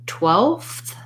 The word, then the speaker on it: twelfth: do it this way don't drop the th in 12th 12th 12th 12th 12th